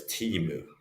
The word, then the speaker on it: Temu: Okay, I pronounce Temu as Timu.